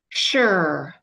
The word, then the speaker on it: sure: Sure, sure. So that S should say S, but it says sh, like an S-H.